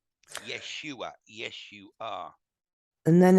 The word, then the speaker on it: Yeshua: original English name is Yeshua which if you break it down phonetically it sounds sounds an awful like an awful lot like yes you are Yeshua yes you are and